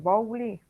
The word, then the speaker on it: Bowlby: ¿No es Bowley? No sé si se pronuncia Sí, así. sí, muy bien. John Bowlby, no es tan fácil de pronunciar, es el autor de esta teoría.